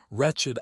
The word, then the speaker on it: wretched: Wretched adjective wretched. These are fossilized pronunciations from Old English.